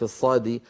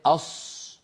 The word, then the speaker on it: ص: وأيضا هنا أنبه على أمر بارك الله فيكم، من عيوب نطق حرف الصاد المنتشرة حتى بين بعض من يعلم القرآن. يا ريت الكاميرا تأتي إلى قليلا. بعض الذين يعلمون القرآن في عصرنا يستعملون الشفتين عند نطقهم لحرف الصاد، فيقول الواحد أص هكذا أص ويزم شفتيه إلى الأمام ويضمهما.